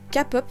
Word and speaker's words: K-pop: Pour la K-pop, c'est le mot en lui-même qui pose souci. On ne dit pas K-pop, mais bien K-pop, parce que le K se prononce à l'anglaise.